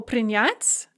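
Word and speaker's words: принять: past so for example prinyat in the infinitive the stress is on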